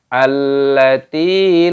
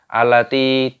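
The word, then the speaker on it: الَّتِي: Jadi cara membacanya allati lam yukhlaq mithluha fil bilad. Seperti itu. Perhatikan di sini terdapat tasydid pada huruf lamnya, maka di sini ditekan, dimasukkan, diidghamkan. Allah. Salah kalau kita langsung dibaca alati, itu salah.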